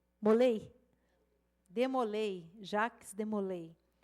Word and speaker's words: Jacques de Molay: maçônica, o grão-mestre da Ordem dos Cavaleiros Templários, Jacques de Molay. Assim se pronuncia? Ou Molay? Molay?